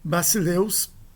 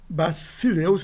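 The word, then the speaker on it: βασιλεύς: Basileus, reparem a pronúncia, é basileus, não basileus, basileus.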